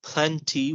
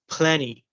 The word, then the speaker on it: plenty: Yeah, like then you have instead of saying plenty, we're going to say as plenty, Plenty.